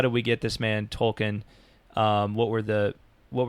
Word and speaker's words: Tolkien: yeah um and also i've been saying his name wrong it's tolkien tolkien yeah um so um